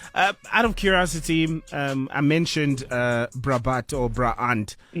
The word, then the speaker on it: Brabant: of Boxtel, in the north of Brabant, or Brabant, which is a province.